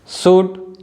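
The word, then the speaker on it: should: कुड, fourth one है शुड, fifth one है फोक और लास्ट वन है योग। तो आप देख सकते हो जो लेटर एल है इन सभी वर्ड्स में साइलेंट है।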